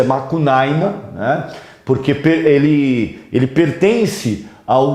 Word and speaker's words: Macunaíma: Então, a obra Macunaíma, o próprio nome Macunaíma, é um nome de origem indígena, a sua pronúncia é Macunaíma, né?